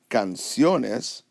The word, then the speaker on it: canciones: on the second-to-last syllable when I say the word canciones it goes up in the same place my voice goes up where it's supposed to therefore no accent